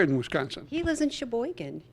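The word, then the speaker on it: Sheboygan: He lives in Shboen. Shbboan, Wisconsin. You have to say it like that.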